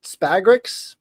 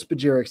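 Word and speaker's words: spagyrics: You may think they're called spagrics, but they're called spaderics.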